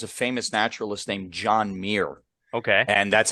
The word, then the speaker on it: Muir: they head to, how do you say this, Muir Island? Mir. Island. Okay, so it's a real place then. I don't know that that's the island, but there was a famous naturalist named John Muir.